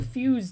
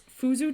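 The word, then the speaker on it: Fuze: It's the fuse tea. Is that how you say it? Because my brain tells me that it's fuzu tea, and that's wrong.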